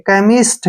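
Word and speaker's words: chemist: ठीक है ना क सी एच का क्या बन जाएगा क और ई का ए की मात्रा एम आई से मी ठीक है और एस से से बन गया और टी से टे केमिस्ट क्या पढ़ेंगे इसको केमिस्ट केमिस्ट कौन होता है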